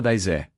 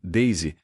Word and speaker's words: Daisy: cumprimentou, chamando-a pelo nome, mas pronunciando de forma literal, exatamente como se lê em português, dona daisé. Quando ela delicadamente corrigiu a pronúncia para o som correto, Daisy, devido à origem inglesa do nome, o médium justificou-se com naturalidade e humildade.